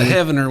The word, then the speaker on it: Heavener: It's spelled heaven with e r at the end of it. Instead of Heavener, we say Heavener.